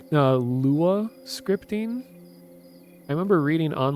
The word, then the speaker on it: Lua: about our scripting language it's always Lua it's never pronounced Lua so I wish more